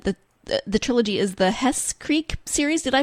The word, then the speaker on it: Hesse Creek: Trilogy um and the the trilogy is the Hess Creek series did I pronounce that right yeah yeah Hessa Creek Series yeah okay so tell us a little